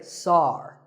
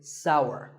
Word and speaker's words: sour: pronounced sour some people say SAR that is a mispronunciation the only correct way to say this word is sour many words in the